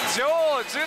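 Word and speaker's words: 成就: 成就と読みます。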